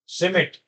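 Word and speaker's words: Schmidt: थरी किसने दी थी सिमट सिमट बोलेंगे इसको साइलेंट रहेगा बेटा सिमट इन्होंने बताया कि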